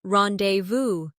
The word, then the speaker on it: rendezvous: For example, the word rendezvous comes from French and is pronounced rendezvous.